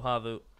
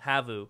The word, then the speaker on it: HAVU: He realizes those smokes are tossed, so HAVU, I keep saying that wrong, HAVU can push towards outer yard.